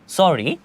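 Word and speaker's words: sorry: আমরা কি জানতে পারলাম পাশাপাশি দুটো আর হলে একটি আর উচ্চারিত হবে তো চলুন দেখে নেওয়া যাক এখানে লেখা আছে সরি সরি এর মাঝখানে দেখেন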